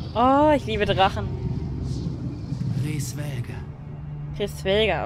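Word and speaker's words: Hraesvelgr: Chris Welger, okay, so hoch heißt der, so wird ausgesprochen.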